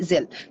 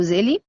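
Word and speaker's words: Zelle: يعني لو نزلت تي دي بنك هتلاقي في حاجه اسمها زل او زيلي وريفر بقى، في ناس تنطقها كده وناس بتنطقها كده.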